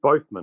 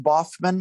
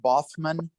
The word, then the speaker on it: Baughman: in sheep's clothing bothman I've never correctly it's actually pronounced Bossman like b-o-f-f-m-a-n bothman like like like Kaufman but with a B okay yeah now have